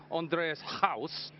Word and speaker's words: Andries Gous: you about the innings, are we actually saying your name right? Because there's a lot of South Africans in my ear telling me I'm saying it wrong. So when I'm saying Andries Gous, is that okay? You're happy with that?